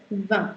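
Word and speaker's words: vingt: This is called 20. The G and T are silent, and this is 1, so बन जाता है 20.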